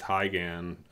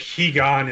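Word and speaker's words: Higan: software emulator is like I thought it was pronounced heigen Corey pronounced it he gone I don't know what's just actually right but I think he GaN is what if you were reading it in like Japanese romanization is how you would okay so he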